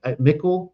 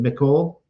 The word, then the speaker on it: Michal: few chapters later, we have that scene where David goes into it's like Michal, that's his wife, his wife under Saul.